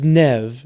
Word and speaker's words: Nev: I think I think he pronounces it nev. There should be two E's if you want to pronounce it ne.